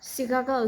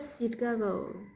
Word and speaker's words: Chicago: To make them is more difficult, there are a couple words that are spelled with CH, also pronounced sh. So was like chef, Chicago, city of Chicago. She, sugar, sure, shadow, ship, shirt, shoe, ship, Chicago, shape.